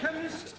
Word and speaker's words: chemist: blame me k e chemist does not begin with a k it sounds like it begins with k CH H but that